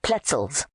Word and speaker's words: pretzels: On hands and knees, they combed the crowded streets for lost pennies, which they squandered on salted pretzels, pronounced pletzels, or a single baked chestnut that Jack divided scrupulously.